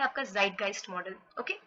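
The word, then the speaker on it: Zeitgeist: model एक है आपका ज़ाइटगाइस्ट मॉडल ओके इसको कैसे प्रोनाउंस करते हैं इट्स ज़ाइटगाइस्ट ओके ज़ाइटगाइस्ट जो है वो एक जर्मन वर्ड है ओके तो सबसे पहले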